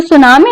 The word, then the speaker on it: tsunami: ठीक है, तो सुनामी जो है ना, इसमें जो पहली बार जिसको प्रोनाउंस करेंगे टी विल बी साइलेंट।